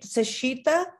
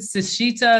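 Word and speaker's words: Sechita: don't i never know i'm always like is it sashita sachita i'm not sure how to say it but we say sachita okay um but no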